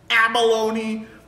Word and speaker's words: abalone: you say that word abalone kind of sounds like the word Bologna like a baloney and cheese sandwich do you think cuz